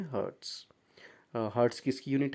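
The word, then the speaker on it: hertz: हैं ए जड तो ये जो h जड है यह हर्ट्स इसको प्रोनाउंस करते हैं और यह साउंड की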